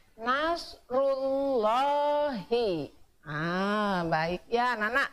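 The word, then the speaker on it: نصر الله: hui oleh dhomah tuh maka harus dibacanya Nasrulloh Ih jangan nashrullahi salah ya kalau lagi dibacanya Nasrulloh Hei Wah baik ya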